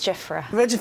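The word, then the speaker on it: Giuffre: Virginia Roberts Giffra.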